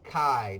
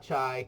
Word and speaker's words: chi: our chi-square table so it's Chi not chai Chi rhymes with a guy I square cable so